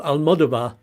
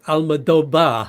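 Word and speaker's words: Almodóvar: you um so it's aloba actually because V's are pronounced like B's so I didn't quite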